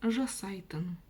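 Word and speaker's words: жасайтын: Слово жасай тн. Жасай тн. от слова жасау, да? И убрана буква у. Опять грамматика пошла, прибавлена окончание и тын. И, собственно, вот так это всё и читается. Жасайтан.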